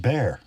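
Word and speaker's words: Bexar: The model name is B X A R pronounced bear according to a Texan.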